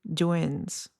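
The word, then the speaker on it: Duyen: Dwins. D U Ye E N. Dwins. I think it's Dwin. Like the Vietnamese last name Dwin.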